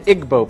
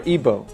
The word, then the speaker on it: Igbo: nigeria you have the igbo people or ibo pronounced either way there's 40 million of